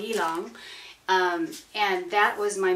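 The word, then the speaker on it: ylang: a n g and the way that it's pronounced is elong elong um and that was my middle my middle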